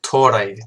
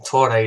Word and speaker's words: Tore: I've been pronouncing his name wrong for months. But yes, we've signed Cohen Torre. Torre is how you say his name.